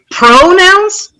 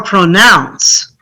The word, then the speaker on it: pronounce: Should we say pronouns or pronounce? Nouns. Okay? We want to stress the second syllable.